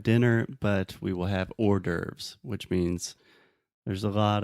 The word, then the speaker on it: hors d'oeuvres: We also have the word hors d'oeuvres. So imagine the word order, like mandato, and then with the VS at the end.